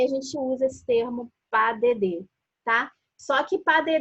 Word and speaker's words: pas de deux: Essa palavra que está escrito aí, pas de deux, se fala pas de deux. É essa a pronúncia.